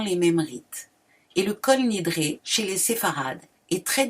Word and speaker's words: Kol Nidre: De plus, il se prononce Kal Nidre, car il y a des différences importantes de la prononciation de l'hébreu entre les ashkénazes et les séfarades.